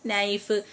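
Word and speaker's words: knife: ഇതിലൊക്കെ സൈലന്റ് ആണ് silent K വരുന്നത് നീ നോ നൈഫ് ഈ കെ എല്ലാം സൈലന്റ് ആണ് നൈഫ് നോ നീ അടുത്തത്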